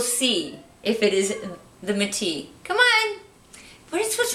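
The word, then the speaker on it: Métis: from the store manager, this is pronounced, she said Metis. But I think the French way to say this would be Metis.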